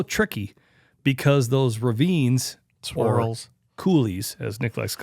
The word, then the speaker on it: coulee: It's conducive to a north wind, but it's also tricky because those ravines, swirls, coulees, as Nick likes to call them.